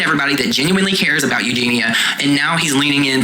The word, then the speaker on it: Eugenia: As far as Eugenia, sorry, I was saying her name wrong before. Eugenia Cooney.